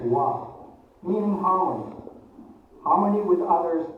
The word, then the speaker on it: 和: The first character is pronounced as wa, meaning harmony.